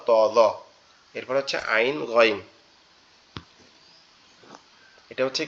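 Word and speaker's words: عين: আইন আইন সরি আমার গোলাটা গলায় একটু বসে গেছে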